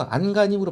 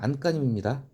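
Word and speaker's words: 안간힘: 안까님은요, 안가님으로 발음하시면 안 돼요. 안까님입니다.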